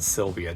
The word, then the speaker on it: Sylvia: It's Nissan Sylvia, too. I've been pronouncing it wrong this whole time.